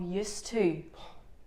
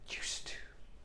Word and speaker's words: used to: And I always write it like how it sounds in Spanish.